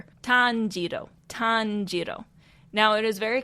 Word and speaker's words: Tanjiro: tanero it is not Tano like it is Tano Tano but now you know how to say